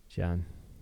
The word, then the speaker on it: Gian: It always screws me up because his name is spelled Gian. Gian. John.